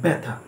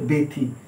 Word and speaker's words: ব্যথা: বয় জফলা থয় আকার ব্যথা, কিন্তু ব্র্যাকেটে যেটা রয়েছে সেটা হচ্ছে উচ্চারণ ব্যথা, এখানে এ উচ্চারণ হচ্ছে, এটা হচ্ছে উচ্চারণ।